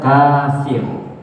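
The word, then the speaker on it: كافر: tertulis ya Apa itu Kaf Fa dan ro bacanya kafir Ya tertulis di sini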